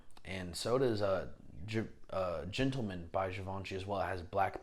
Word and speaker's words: Givenchy: That is the proper way to say it, by the way. Givenchy. It's French. Look it up. Go take a French class.